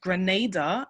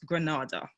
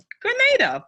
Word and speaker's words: Grenada: The first A is a long vowel. So it is pronounced Grenada and not Grenada. So hoping you guys will remember that and keep pushing and saying Grenada.